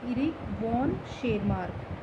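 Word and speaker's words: Erich von Tschermak: के Karl Correns ने, एंड इरिक वॉन शेरमार्क। T silent है यहाँ पे।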